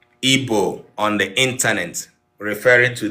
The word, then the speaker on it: Igbo: The word Igbo was born when the British, who colonized our community, our forefathers, our ancestors, could not pronounce this sound because it is unpronounceable by them.